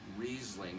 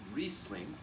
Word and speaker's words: Riesling: different places in canadian magnificently for many years mispronounced many people would say riesling it's riesling riesling underrated and underpriced for most of the